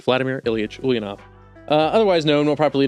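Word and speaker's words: Ulyanov: this time I'm saying it right Vladimir ilich ulanov uh otherwise known more properly known as Vladimir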